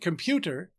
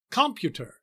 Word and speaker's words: computer: In the word computer, the heavier stress is on the middle syllable. We don't say computer or computer.